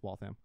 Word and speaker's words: Waltham: Nope, it's Waltham. The Clock City, right? Mm-hmm. Or Watch City. Waltham's Watch City.